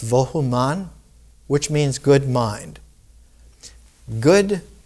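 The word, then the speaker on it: Vohu Manah: In ancient Irani, in Zarathustra, the name is pronounced Vohuman, which means good mind.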